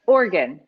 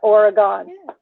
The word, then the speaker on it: Oregon: organ like organ gotcha like like organ like organ i i i there's like no separation in the organ guns two syllables organ organ not oregon i'm trying to make it into three syllables we do that in